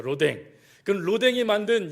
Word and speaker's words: 로댕: 오뎅하고 발음이 비슷한데, 로댕이 만들었죠. 로댕.